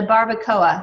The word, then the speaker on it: Barbacoa: know get specific maybe focus in on the Barbacoa is that how you pronounce it yes um isn't that barbecue H